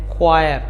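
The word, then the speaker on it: choir: उसको आप बोलते हैं क्वायर क्वायर स्पेलिंग होगी सी ओ आई आर ई क्वायर इसके बाद है बनानास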